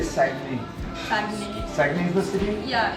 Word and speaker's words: Saguenay: Saguenay.